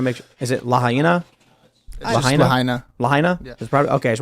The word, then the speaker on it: Lahaina: Lahaina. Lahaina? Yeah. Okay, I just want to make sure I'm pronouncing it correctly.